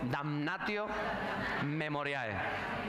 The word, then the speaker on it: damnatio memoriae: Hay un término latino para se llamaba en esa sociedad del siglo primero damnio memoriae. A ver, diga conmigo. Damnatio memoriae usted sabe latín, eh, pronuncia bien y todo.